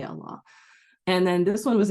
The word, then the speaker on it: Allah: Allah pronounced directly sounds like draw. And I thought that would actually be good because it would maybe let people know how we say Allah.